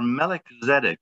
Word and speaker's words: Melchizedek: Or Melchizedek is actually how it's pronounced.